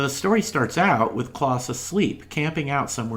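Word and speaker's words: Klaus: bethlehem and here we meet a mercenary named kloss spelled with a k k-l-a-u-s who comes from northern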